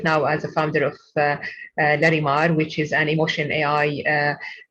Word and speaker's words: Larimar: And she's also founder of Larimar, right?